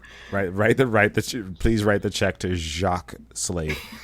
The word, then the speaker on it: Jacques: Please write the check to Jacques Slade. It's JACQUES. It's spelled the French way.